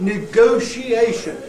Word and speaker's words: negotiation: picture that we got if somebody starts to say the word negotiation and starts it with nego right well I get a picture of a is Lego or something it doesn't seem the